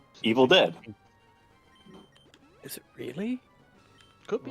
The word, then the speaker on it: Evil Dead: I have a question is it pronounced evil dead or evil deed Evil Dead godamn it you know